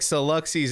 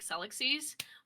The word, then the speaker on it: Celluxies: Um, Like Celluxies is correct, right? it's supposed to be like galaxies, so it's just like Celluxies, but nobody ever pronounces